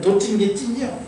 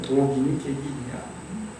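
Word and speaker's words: 도긴개긴: 그러니까 강하게 발음하면 우리가 뭐라고 합니까? 아유 인생은 도찐 게 찐이요. 그러니까 그게 발음을 세게 해서 그러지 원래는 독인, 객인이야.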